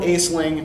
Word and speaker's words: Aisling: Who comes out of a 17th and 18th century poetic tradition called Aisling. A-I-S-L-I-N-G. Spelled Aisling, pronounced Aisling.